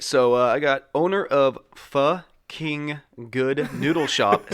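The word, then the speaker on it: phở: All right, so I got owner of Pho King Good Noodle Shop says he's not in on the joke.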